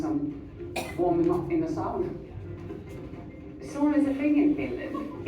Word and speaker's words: sauna: That is one thing you have adopted from our language, and we say it sauna.